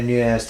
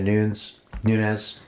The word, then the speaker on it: Nunes: the caliber of Amanda Nunes. So Nunes. Nunes. One, because she's Brazilian, it's Portuguese. Is that the same? Nunes, yeah. Nunes, okay.